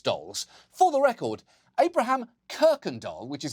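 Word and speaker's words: Kuykendall: him bragging about being a descendant of Abraham candal not only does that last name sound like the Swedish translation for Bratz dolls for the record Abraham kirken do which is how it's actually pronounced was one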